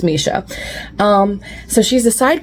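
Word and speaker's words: Mische: Um, I called her Meech this whole time until this book taught me how to pronounce her name. So, it's Misha.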